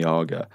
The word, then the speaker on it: AGA: Argo I'd say no I switched on the agar by accident because I didn't even have an